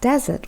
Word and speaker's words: desert: hot sandy Place geography if I'm talking about dessert stressing on the last syllable I'm thinking of A really lovely chocolate pudding that I'm going to have at the end of my dinner that makes a big